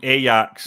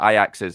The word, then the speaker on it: Ajax: this is me getting slagged for my uh pronunciation of kayaks I've changed it from Ajax there we go you got it yeah you